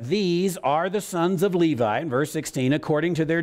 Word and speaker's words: Levi: the sons of Levi if you are hebrew we pronounce it levy by the way but these are the names of the sons of Levi now Levi is do